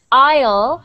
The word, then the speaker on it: aisle: And then aisle, well, with no A, well, that's just like isle, right here.